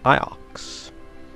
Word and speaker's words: Iox: Okay, so we were right the first time in our pronunciation. Iox.